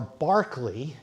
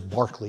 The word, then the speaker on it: Berkeley: In the middle was Berkeley or Barkley as it probably was pronounced. As any of you teach philosophy or know philosophy, the philosopher is Barkley even if it is spelled with an E.